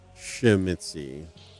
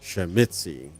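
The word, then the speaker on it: Tzimisce: although i sometimes say shim mitzi stress on the second shemitzi yeah zimitzi i like the kind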